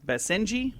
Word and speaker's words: Basenji: saved this it's I don't know how you pronounce this b a s e NJ ji Basenji mix say orangish colored dog 30 lb puppy